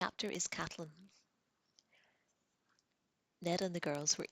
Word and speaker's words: Catelyn: Caitlin looked at Bran. Sorry, Catelyn. This is going to happen frequently throughout. It's Catelyn, it's spelled Caitlin to me.